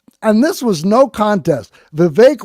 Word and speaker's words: Vivek: Vivek rhymes with cake was the runaway winner in this category.